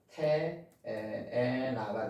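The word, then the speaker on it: תאנה: 이제 명사 여성 단수 테에나가 되는 거죠. 테에나 이렇게 발음하는 거죠.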